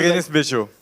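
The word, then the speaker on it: Bérénice Bejo: How do we pronounce the name of the actress? Beguenise Bejo. Berenice. Yeah. Yeah, That was Berenice Bejo.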